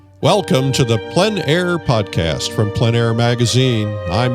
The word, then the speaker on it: plein air: The French pronounce it plein air. Others will pronounce it plein air. There's not a right or wrong, no matter what you call it.